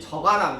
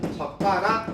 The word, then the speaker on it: 젓가락: 왜냐면 그냥 이렇게 써버리면 사람들이 저가락 이렇게 발음을 하잖아요. 야 저가락이 아니고 된 소리 발음해야 돼 라는 표시로 사이시어 표시를 해주면 젓가락 이렇게 되는 거죠.